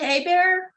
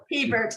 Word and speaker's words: Hebert: Miss, is it Haybear? I lived in Louisiana a while, so It's Hebert. Hebert, okay. Yeah. I know French versus the German pronunciation.